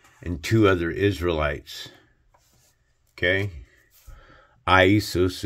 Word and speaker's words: Iesus: Iesus is the pronunciation for Jesus.